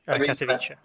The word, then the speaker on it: Katowice: Team Bolter really, really coming out strong, and also Katowice. Is that what you said the pronunciation is? Katowice.